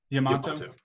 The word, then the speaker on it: Yamato: Yamato. I'll check out Yamato. It's spelled like tomato except with a Y and an O, or Y and A at the beginning.